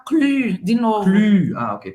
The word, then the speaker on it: Cluny: Cluny, ok, pronúncia. Boca do U e fala I. Cluny. Cluny, o Y tem som de I em francês.